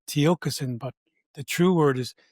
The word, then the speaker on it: Tiokasin: Just like I briefly interrupted you, I said it's Tiokasin, but that's still not spoken correctly. I anglicized it and said Tiokasin, but the true word